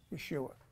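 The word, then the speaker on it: ישוע: form of it and if you were Hebrew you would be saying it this way Yeshua so that's actually the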